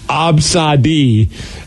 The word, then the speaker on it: Abcde: Absadi, and it's spelled ABCDE.